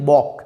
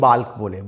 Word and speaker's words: bulk: দেখো, BULK actually এলের উচ্চারণ হয় না, যেমন পাম, কাম, তেমনি উচ্চারণ অ্যাকচুয়ালি হওয়ার উচিত বক, BULK, বক, কিন্তু কমনলি আমরা ভুল উচ্চারণটাই করি বাল্ক বলে।